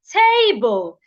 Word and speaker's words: table: that has two syllables if the word is a noun or an adjective please stress the first syllable for example table table has two syllables T and B is table a noun or an adjective table is a noun so according to that rule we should stress the first syllable which means the first part of table the TA should be said louder it should be said longer and clearer so if I want